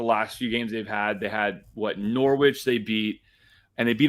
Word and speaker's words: Norwich: There's no W. Norwich. No, the W is silent.